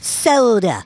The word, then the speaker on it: solder: and Canadians say s it's pronounced soda yeah there's no you in solder you dumb